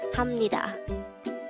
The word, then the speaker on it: 합니다: last three syllables hamnida the third syllable hap is formed from the combination of the a and b sound even though it has a v of sound at its ending it is pronounced as ham since it is followed by a neon character on the syllable knee